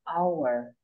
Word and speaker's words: hour: But our, we don't say the H sound because the H is silence. We just say our.